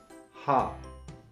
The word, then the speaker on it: 하: Anyang is followed by ha, which is composed of hyut and a, which is literally pronounced identical to ha.